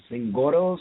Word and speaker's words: Zingoros: I'm sure we butchered it. Zingoros or?